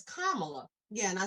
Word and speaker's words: Kamala: say her name you know i've heard someone mispronounced her name so much lately that i'm sitting here like did i say it's kamala yeah and i said kamala like the other